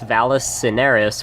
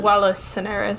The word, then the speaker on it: Vallis Cineris: the wall, that says Vallis Cineris, which is Latin for Valley of Ashes. Wallace Cineris. Oh, I mispronounced a dead language.